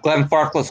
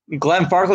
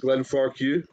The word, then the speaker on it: Glenfarclas: to save their lives they used to pronounce it glenn farquhar thank you try telling